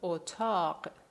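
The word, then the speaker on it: اتاق: In the case of O, remember it's a short vowel. We have the example otaq, otaq.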